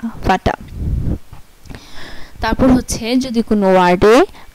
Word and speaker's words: Vater: আচ্ছা, পরে হচ্ছে যদি কোনো ওয়ার্ডে ER একসাথে থাকে, যদি কোনো ওয়ার্ডে ER একসাথে থাকে তাহলে এটার উচ্চারণ হবে স্বরে আয়ের মতো। যেমন VATER, ফাটা, এই যে VA ফা, TER টা, ফাটা।